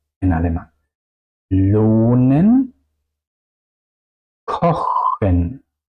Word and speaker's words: lohnen: Lohnen, kochen. Otra vez, al final de las sílabas, por eso las vocales suenan largas.